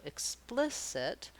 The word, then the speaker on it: explicit: length is different so explicit i want to think about the splis syllable being long the ick being very short and then the it